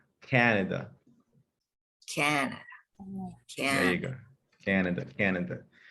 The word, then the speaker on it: Canada: Now let's add a little American accent to that word. Canada. Canada. Canada. So your mouth is long, and wide. Canada.